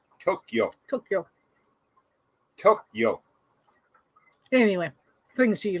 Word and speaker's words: Tokyo: it's karaoke it's like it's not tokyo three syllables it's tokyo tokyo tokyo anyway things